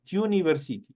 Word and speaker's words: university: Por ejemplo, Liam is studying at university. University, obviamente, es una mezcla entre I y la U o una Y.